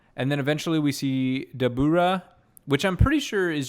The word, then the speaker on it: Dabura: name sounded so familiar i think it's just devil but like the way they say it in japanese like the english word devil but the way they say say in japanese phonetically then in english sounds like dabura not in like a